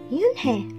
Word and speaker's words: Unhei: chanted no no corrected it's spelled u-n-h-e-i it's pronounced yunhei oh it's you hey